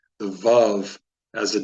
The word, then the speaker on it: Vav: that I was taught I was not taught to use it as a w but to use it or just to pronounce it with a V and in that case